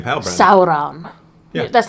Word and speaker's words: Sauron: His name is Sauron. It is. If you don't roll the owl and sound. Sauron. Yeah, if you don't say it the way Galadriel says it, you're not saying it right.